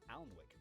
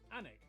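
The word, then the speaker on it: Alnwick: stop in kwonmore kwama before finishing up in almwick anak which is near newcastle or as the people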